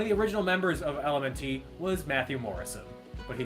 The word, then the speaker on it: LMNT: first one is that it's supposed to be pronounced element like the word element without vowels uh and the second